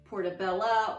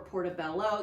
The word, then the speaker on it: portobello: And then of course the portobello, if you're familiar with those, portobella or portobello, you can pronounce it either way.